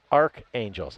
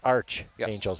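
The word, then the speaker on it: Archangels: yeah and Lindsay saying it's not pronounced uh Arc Angels it's Arch Angels hence St Louis so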